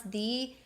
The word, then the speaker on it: the: apple the orange but th e in front of a consonant is the and now you can correctly pronounce thee versus the and know why so